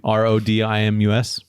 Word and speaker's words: Rodimus: uh you if I'm if you think I'm pronouncing it incorrectly it's the first page where it says name r-o-d-i-m-u-s yeah you got it yeah that's Rodimus I'm still take it